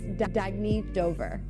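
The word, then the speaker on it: Dagne Dover: good you can live life intentionally oh it's pronounced Dagny Dover Dagny means new dawn it's a new dawn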